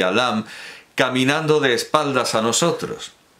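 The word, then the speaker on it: ラム: y Lum, un beso, perdón, Lam, no debo leerlo como se escribe porque precisamente, bueno, Lam, la idea es que el nombre es Lam, Lamu, por la pronunciación japonesa, pero la idea es Lam.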